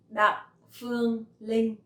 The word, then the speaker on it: Đặng Phương Linh: Đặng Phương Linh. Đặng Phương Linh. So my last name has dấu nặng and my name has no tone.